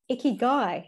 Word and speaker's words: ikigai: I know I'm gonna pronounce this wrong, but you talk quite a lot in it. Is it Ikigai? Ikigai.